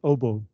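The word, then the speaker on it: hautboy: word is also pronounced OBO and this is because it's a f it comes from the French and French people pronounce their words in a very strange way uh French people like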